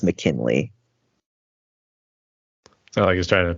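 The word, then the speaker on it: MKNLY: liar and it's by the band uh it's pronounced McKinley but to spell it is just m as a mic k n is November l y so MK NL Y and then it's pronounced McKinley so I he trying to pay homage to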